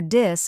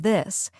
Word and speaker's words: this: Another big mistake is the thash sound, like in think and this. Many learners replace it with T or D, so they say tink instead of think or dis instead of this. Right. The trick is to put your tongue between your teeth and blow air out.